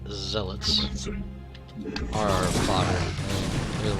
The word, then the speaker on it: Zealots: The Zealots, and it is pronounced Zealots, are our fodder.